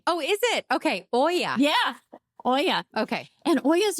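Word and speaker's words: olla: o l l a it's called it's actually pronounced Oya so it's a Spanish name oh is it okay Oya yeah Oya okay and OAS are so cool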